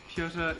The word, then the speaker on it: Piotr: Piotr Kropotkin. Pieter? Like Piotr. Peter. Let me just look up how to spell it.